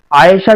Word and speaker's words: عائشہ: اگلا نام ہے عائشہ۔ عائشہ جو ہے عین کے تلفظ کے ساتھ، بڑا پیارا نام ہے،